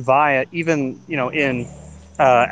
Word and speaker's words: vi: go to niagara falls i've never heard anything other than vine you guys are all wrong yeah it's definitely vi you know from berkeley